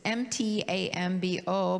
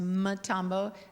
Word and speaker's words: Mtambo: It's M-T-A-M-B-O, but it's not pronounced Mtambo, it's Mtambo, like Nchima.